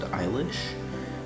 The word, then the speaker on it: Eilish: is Billy eyelash and now you pronounce it Eilish but I like I prefer to call it eyelash so the eyelash should